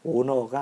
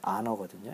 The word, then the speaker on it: honor: 거기서 이제 사람들이 잘못 알고 있는 것 중에 하나가, 너가 요번을 아너야, 그 말을 오너라고 얘기도 하거든요. 그냥 발음상. 근데 그게 OWNER, 오너가 아니고 원래 명칭은 아너거든요. HONOR.